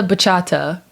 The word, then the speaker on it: bachata: Let me dance the bachata.